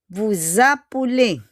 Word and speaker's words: vous appelez: Okay, next, na magiging vous appelez. Okay, vous appelez is you call. But yung S, we will make it as Z.